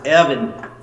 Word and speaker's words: Erwin: He's a collector from Austria. Pronounced Evan.